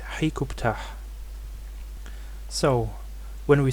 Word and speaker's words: Hut-ka-ptah: Ka of Ptah, and is conventionally pronounced Hut-Ka-Ptah. This name is also attested in Akkadian cuneiform as Rikub-Ptah, and also in Ugaritic as, well, here the final ha is missing, so it is probably Hikubt or Hikubta. Comparing these sources, we can reconstruct the pronunciation of this name as Hikubtah.